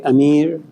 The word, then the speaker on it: Amir: And they can't pronounce my name the right way, Amir. So we just go Mir.